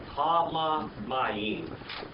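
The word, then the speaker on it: הַמַּיִם: Ha-Ma-Mayim is literally how you say it, because it's got that doggy sport in the middle of it.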